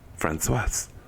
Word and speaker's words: Françoise: But I knew how to say her name, Françoise.